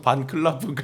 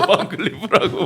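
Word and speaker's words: Van Cleef: 그래서 전계환 대표 스픽스의 전계환 대표는 계속 반클라프 하니까 댓글에서 반클리프라고 막 이렇게 영국식 저기도 발음인가요?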